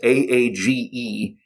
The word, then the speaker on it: Aage: first name was actually spelled a-a-g-e and i was afraid that this was going to be unpronounceable that it was going to be pronounced something like arg or with my fist in my mouth or something like that but it's actually quite easy to say we actually got a